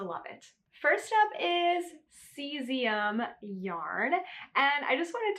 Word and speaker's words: cesium: me a long time to learn how to pronounce this as cesium.